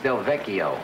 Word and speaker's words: Delvecchio: If it's Delvecchio, it's a hard C.